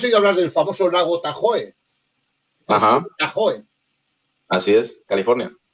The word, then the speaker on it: Tahoe: Tú has oído hablar del famoso lago Tahoe. Ajá. Tahoe. Así es, California. Exacto, pero realmente, bien pronunciado en lengua gringo hablada, se dice el Tajo Lake.